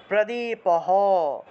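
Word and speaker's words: প্রদীপঃ: একদম শেষে আছে বিসর্গ একদম শেষে বিসর্গ থাকলে সেটাকে পূর্ণরূপে হ উচ্চারণ করবেন প্রদীপহ প্রদীপ হ টাকে পূর্ণ উচ্চারণ করলাম আর এখানে সামনের দিকের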